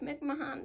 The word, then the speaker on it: McMahon: uh of course it's spelled like mcmahon but it's mcmahon and even you know